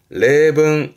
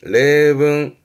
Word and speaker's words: 例文: 발음은 레붕, 레붕, 예제입니다.